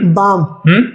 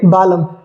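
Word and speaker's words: balm: आ रहा है एल तो एल यहां पे साइलेंट होगा जैसे कुछ एग्जांपल्स है क्या पढ़ेंगे इसे पाम बाम आमंड आमंड तो अब अगर जो हम एल को हमें ये नहीं पता कि ए और एम के बीच में यदि एल आए तो एल साइलेंट होता है तो आप क्या पढ़ते हैं इसे पालम पालम पाल हां बहुत सारे बच्चे पढ़ते हैं इसे गलत तरीके से इसी तरीके से क्या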